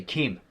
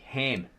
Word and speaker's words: Ham: the ark were Shem, Ham, because this K is silent. It's like the Egyptian K, and they say Chem, to do with the Kemites. Chem, right? Khem. It's actually Ham.